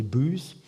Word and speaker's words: Bowhouse: These gave rise to names such as Shields, Bowhouse, pronounced locally Booze, meaning a cattle house